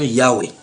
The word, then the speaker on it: Yahweh: Ils disent, voici ce qu'ils disent dans leur traduction, bien que nous inclinions à considérer la prononciation Yahweh comme la forme la plus correcte, nous avons retenu la forme Jéhovah.